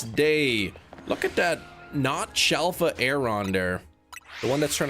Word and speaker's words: Aron: It's pronounced aeron.